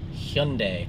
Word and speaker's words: Hyundai: So, what rhymes with Sunday? It is Hyundai.